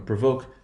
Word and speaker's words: provoke: So what happens in this case is, notice there is no shift in the position of accent. Provoke, provocative. That means it's that second syllable that will be stressed.